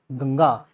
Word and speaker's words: गंगा: जैसे गंगा। कई लोग इसको गड़ा पढ़ते हैं। गड़घा। गड़गा नहीं होता। गंग ही होती है।